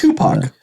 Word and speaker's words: Tupac: That's Tupac.